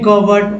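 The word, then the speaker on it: cupboard: तो दोस्तों पी जो है ये पी जो है इस पी को साइलेंट कर दिया गया है, जी हाँ साइलेंट लेटर को इसको साइलेंट करके बोला गया है तभी तो कवर्ड पढ़ा गया है, जी हाँ कवर्ड, सी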